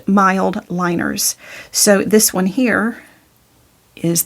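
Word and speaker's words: Mildliners: A lot of people call these midliners, but they're pronounced mild liners.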